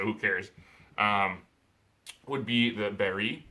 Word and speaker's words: Berg: Would be the Berry, is how it's actually pronounced, but most of us Americans call it Berg.